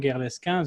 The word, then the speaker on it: Guerlesquin: So my name is Valentin Guerlesquin. This is the correct pronunciation, Ryan, but try it next time.